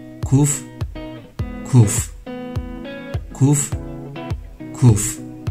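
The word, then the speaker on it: קוף: 쿠프, 쿠프, 쿠프, 쿠프. 가운데 점 여부에 따라 카프나 하프로 발음되는 카프와는 달리 이 발음은 어떤 상황에서도 항상 키읔 발음을 냅니다.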